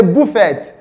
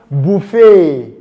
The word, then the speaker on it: buffet: Oh, did I hear someone say buffet? No, it is pronounced buffet. Buffet, because that sound is silent.